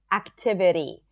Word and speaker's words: activity: The flap T is when the T appears between two vowels as in the word activity. It sounds like a really light D.